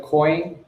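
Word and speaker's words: Koin: It's Coin, right, Linya? Or is it? Yeah. Yeah, it's Coin. It's spelled with a K.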